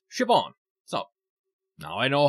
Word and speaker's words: Siobhan: And, yeah, I found out that it's actually pronounced Siobhan.